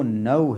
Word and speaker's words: no: तो जो correct pronunciation है नव की, वो नव है, नव, नो नहीं, मतलब ओ की साउंड नहीं होगी, औ इस तरह की साउंड होगी, नव नव।